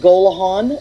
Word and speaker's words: Gollehon: is it Gollehon? Did I say it right? Okay, that's how I've been pronouncing it.